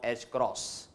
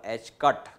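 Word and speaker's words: ħ: E square upon h cross. This is new symbol for you, it is to be pronounced as h cross or h cut, h cross or h cut.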